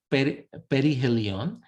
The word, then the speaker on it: perihelion: point of perihelion now people will pronounce it in 10 different ways so you you get used to those but it's like perihelion and the other one